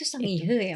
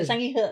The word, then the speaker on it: Sangihe: itu sangihe ya, Mbak? Bukan sangihe. Tapi sebenarnya kan kita memang e een di bahasa Indonesia itu ada tiga. E, e, dan tapi sanghe bacanya.